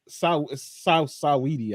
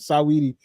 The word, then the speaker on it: Saweetie: Kelvin said, "Sweetie ain't Saweetie, I think is how you say it, not Sweetie, but Saweetie said ain't no loyalty, but the woman said it's understandable with Chris."